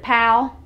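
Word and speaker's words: Powell: p oh w.e.l.l but we pronounce it pal PL I went to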